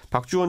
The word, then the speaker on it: 박주원: 이게 잘 생각해 보시면요, 지금 박주원 최고위원이 이제 사실상 뭐 당권 정지 사퇴. 잠깐만요, 제가 여기서 여러분 발음을 잘해야 돼요.